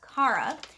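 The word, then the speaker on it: Cara: Kara, or Kara, but it's spelled with a C, and my name is Kara, so I always read it as Kara. And also, there are other reasons why throughout things that we learn about this character and her family in the story, which lead me to believe that her name is pronounced the same way as mine, because I believe that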